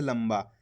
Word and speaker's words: लंबा: दोस्तों अपन ने शब्द के अंदर भी आधा माँ का उच्चारण करा है इस प्रकार से, लंबा।